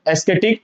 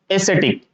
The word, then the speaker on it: ascetic: एस्केटिक, एस्केटिक, है ना, बट एस्केटिक is wrong, ठीक है ना। क्यों? क्योंकि ये जो करेक्ट प्रोनाउंसिएशन नहीं है इसका, तो क्या होगा? ए हो गया, ठीक है ना। फिर इसको हम सेट, ए सेट इक, यानी एस्थेटिक, क्या बोलेंगे? एसेटिक। क्या बोलेंगे? एसेटिक। ध्यान रखना इसका। तो इसका करेक्ट प्रोनाउंसिएशन होगा एसेटिक।